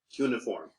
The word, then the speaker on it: cuneiform: Cuneiform. Cuneiform. That's the way I pronounce it. Yes. Okay. All right. Yeah. Thank you. I've also heard people say cuneiform, by the way.